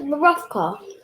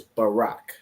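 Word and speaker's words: ברך: Is it Barafka? So those are the three letters, Ba, Ra, and Ka. But that's not how you pronounce this word. So if you remember from the Paleo, this word is Barak.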